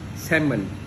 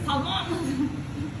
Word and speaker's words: salmon: Salmon, you have to pronounce it as salmon, not salmon. It's salmon.